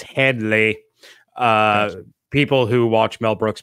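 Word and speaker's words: Hedley: No, I just went, it's Headley.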